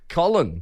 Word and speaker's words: Colin: I've got Column before. Colin.